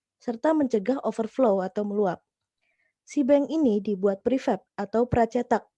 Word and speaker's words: Seabang: caranya fasih tersebut adalah sibeng tulisannya saya Abang bacanya sibeng sibeng singkatan dari Seaworld